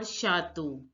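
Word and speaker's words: château: say C stands for shato which means Castle now look CH is pronounced as sure in French that you all know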